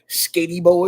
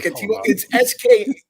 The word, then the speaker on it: Skattebo: I do like, and I'm going to pronounce his name wrong, the running back was it Cam Skatey Boy or whatever. I'm just going to call him Skater Boy. Skatibo? Hold on. It's Skattebo.